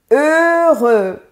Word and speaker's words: heureux: Ta prononciation va s'améliorer. Ici, c'est le mot heureux.